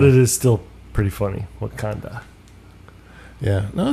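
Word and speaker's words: Wauconda: u c o n d a okay so it's spelled a little different just a little different but it is still pretty funny wakanda yeah no it's a nice area I like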